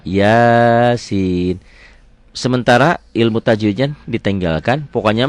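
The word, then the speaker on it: يس: Jadi kalau menemukan penampilan seperti ini jangan dibaca digabung. Bacanya dieja seperti BRI, BCA, BNI kayak gitu ya. RRI enggak RIRI enggak gitu. RRI. Ini enggak Yasa, Yasin.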